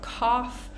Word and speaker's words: cough: have thought we have cough we have Ruff um all of these words that end in o u g h and almost every single one is pronounced differently so definitely be careful with those words so again we